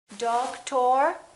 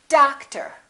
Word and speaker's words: doctor: how about this one do we say dog tor or daktar no we don't we stress the first syllable we reduce the second syllable therefore these two o's are also going to be completely different doctor how about this